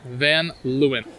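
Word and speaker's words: Van Leeuwen: in the East Village and how do we pronounce the ice cream place again then lewin van Lewin yeah you got a lot of cool little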